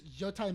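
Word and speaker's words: Yōtei: great it looks great U how do you pronounce that ghost you would yoai yoai because it's a it's a mountain so I was talking imitation of Mount Fuji I think is a rough translation it's yoai mountain and that's it's and it's supposed to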